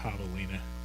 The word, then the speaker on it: javelina: So it's probably got a more of a Latin pronunciation there with the J, javelina.